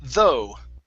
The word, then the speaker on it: though: Okay, now this last word here, remember the GH in this word is silent. Instead of the, it's though.